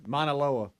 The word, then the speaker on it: Mauna Loa: That's how you pronounce it. Hawaii. Maunaloa.